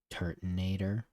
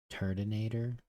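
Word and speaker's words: Turtonator: A is that like can we just omit this O and call it a turtinator? Is it is it really turonator? Turttonator.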